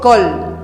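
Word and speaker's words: קול: hebreo el vocablo voz viene del hebreo col col col col col se dice voz en hebreo col Jesucristo es la voz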